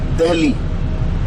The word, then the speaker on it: Delhi: the hell we was a little difficult to pronounce so they started instead of saying the lv they call it delhi and when british came the heli was not